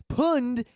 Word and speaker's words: pwned: Pone and own works because it's like it fits the word. You were owned, you were pwned. But the origin was a typo. Punned is the way you would actually pronounce it as reading.